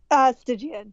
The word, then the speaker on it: Stygian: Hard G or soft G? Stygian. Stygian. See, I checked with the